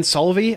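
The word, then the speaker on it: Solovey: And was incredible was a couple years ago when what's his name, Ben Solvey, I think is how you pronounce it.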